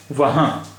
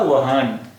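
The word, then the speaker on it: وہاں: फिर इसका उच्चारण होता वहान, वहान होता फिर उच्चारण। अब ये चूंकि नून गुन्ना है, इसलिए वहाँ, वहाँ।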